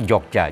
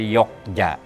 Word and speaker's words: Jogja: Yang betul Jogja, J. Ya. Tapi karena pada ejaan baru J itu banyak diganti dengan Y, orang jadi lupa, bablas jadi Yogya.